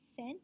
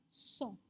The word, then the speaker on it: cent: Sebutan dia bukan cent. Memang kita rasa tendency untuk sebut cent, right? Macam in English. But in French, the pronunciation adalah song. Macam S-O-N-G lah. It's a song.